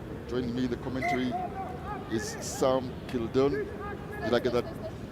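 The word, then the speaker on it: Sam Kildunne: it or not join me the commentary is Sam Kildon. Did I get that pronunciation right?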